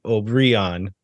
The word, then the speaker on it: Obrian: The MLS guide says Obrian and on the second syllable.